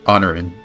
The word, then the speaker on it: Honorin: Honorin. Honorin. Yeah. Like honor. In. Heroine. Honorin. Honorin. Honor. Honor. In. Oh. Silent letters.